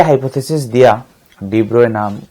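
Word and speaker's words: de Broglie: तो ये pronunciation student डी ब्रोए है, डी ब्रोए, नॉट डी ब्रोगली, pronunciation है डी ब्रोए।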